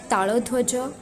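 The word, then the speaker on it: ତାଳଧ୍ୱଜ: वैसे अगर ओडिया में इन रथों का नाम बताऊं, उनका करेक्ट प्रोनाउंसिएशन अगर मैं ओडिया में बताने जाऊं, तो जो सबसे पहला रथ बलदाऊ का है उनके रथ का नाम ताड़ोध्वज। दूसरा जो रथ है वो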